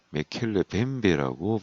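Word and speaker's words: Mokele-mbembe: 저 호수 괴물이 찍힌 영상은 없는데 봤다는 정언자 인터뷰할 때 원주민이 나와서 발음하기를 그 호수 괴물을 메켈레 뱀베라고 발음을 했습니다.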